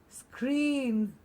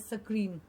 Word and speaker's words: screen: says screw everybody screw the next one is screen and again very often mispronounced as sakrim have you heard people